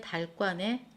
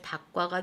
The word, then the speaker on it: 닭과: 얘는 명사이기 때문에 닭과가 된다라는 말이에요.